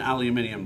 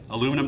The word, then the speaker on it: aluminium: This is an, what I would call an aluminium block. That's the right way to say it. You guys use the aluminum block, and I guess that'll do.